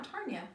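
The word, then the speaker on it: Tarnya: Yeah, Tarnia.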